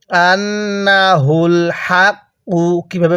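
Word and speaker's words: أَنَّهُ الْحَقُّ: ফায়ালামুনা এরপরে আন্নাহুল আন্নাহুল অনেকেই আন্না নুনের মধ্যে টান দিয়ে থাকে নুনের মধ্যে টান দিব না তাহলে কিভাবে পড়বো আন্নাহুল হাকু কিভাবে পড়বো আন্নাহুল হাকু হ্যাঁ আন্নাহুল হাক্কু এই হাটা উচ্চারণের সময় গলার মধ্যে আওয়াজ করব আর এই হাটা উচ্চারণের সময় আমরা গলার মধ্যে হালকা বাতাস বের করবো তাহলে আন্নাহুল হাকু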